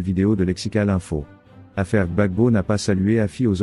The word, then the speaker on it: Gbagbo: président Henry Conan Bédier Gill Christ DJ se prononce Bagbo refuse de saluer àessan aux obsèes du président